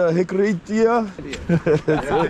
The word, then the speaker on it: Hiriketiya: Should we apiam over to Hiriketiya? That's how it's pronounced, yeah? You said it correctly.